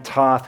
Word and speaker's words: Toth: To his right is, and pitching in, thank you to Toth, who you're also going to be hearing from. It's pronounced Toth.